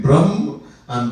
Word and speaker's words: Brahma: There's a big difference between Brahm and Brahma.